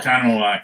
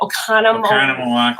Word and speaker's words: Oconomowoc: Oconomowoc, yeah. You don't have to say it that slowly. Oh, well, I can't say it. Oconomowoc, Wisconsin.